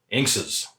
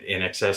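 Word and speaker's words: INXS: to be wrong and that band is inks's or as they're properly called in xs and in excess i went with the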